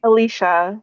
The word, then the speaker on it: Alicia: Alicia. Alicia. Okay. Thank you. Like Alicia Keys.